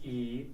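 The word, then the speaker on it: いい: for good, which is e or yoi. Basically, e is a modern pronunciation of the original adjective, which was yoi.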